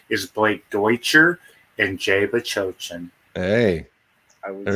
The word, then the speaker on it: Bachochin: Bachochin. Jay But That's right. Bachochin.